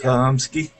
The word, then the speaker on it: Chlumsky: That's how you say it, right? How do you say it? Chlumsky? Chomsky.